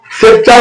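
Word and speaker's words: sceptre: বললাম উচ্চারণটা কি বললাম উচ্চারণ কি বললাম সেচার সেপচার হচ্ছে রাজদন্ড একটা উচ্চারণ হয় সিই এন টি আই কি হয়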